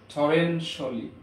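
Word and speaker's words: torrentially: পারেন ইট has rained টরেনশিয়ালি, টরেনশিয়ালি না, টরেনশিয়ালি, টরেনশিয়ালি, শিয়াল ইংরেজিতে উচ্চারণ হয় না, টরেনশিয়ালি, টরেনশিয়ালি।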